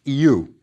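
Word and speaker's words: iw: Start with the verb is, pronounced you.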